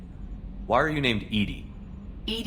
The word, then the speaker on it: EDI: are you named Ed Ed is the phonetic pronunciation of Ed e i that is an acronym for enhanced defense intelligence where are you my